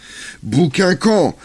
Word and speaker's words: Buckingham: chargé d'escorter en Angleterre bouquin camp comme l'appellent les Français alors rétif à la prononciation anglaise ne rêve que d'une